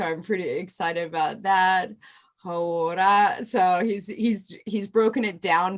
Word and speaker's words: hauora: Hauora.